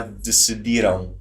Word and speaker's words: decidiram: I can say, já decidiram. Yeah. So you might hear that. It sounds like the word decide.